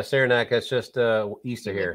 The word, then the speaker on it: Saranac: So this is Saranac. Is that how you pronounce this little town? Yeah, Saranac.